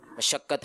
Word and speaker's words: مشقت: مشقت ہے درست. جی مشقت. میم کے اوپر کیا ہے؟ زبر. یہ کہہ رہے یہ مشقت یا مشقت پوچھا گیا تھا, اور جواب دے رہے ہیں مشقت.